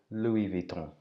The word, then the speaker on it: Louis Vuitton: or Luis Vuitton but the French don't like to pronounce the S on the end Lewis shall I say